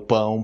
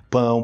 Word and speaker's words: pão: falando isso tipo quando eu tô ensinando o pão pau pão pão pão Ai meu Deus eu tô ouvindo